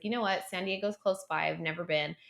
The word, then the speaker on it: San Diego: You have to pronounce it San Diego.